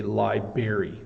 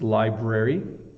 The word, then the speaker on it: library: them wrong um but some people say Liber don't don't say that okay it's Library if you are a